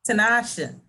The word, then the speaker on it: Tanasha: How you pronounce her name? Tanasha. She's from New York. She's from New York, so the R is silent.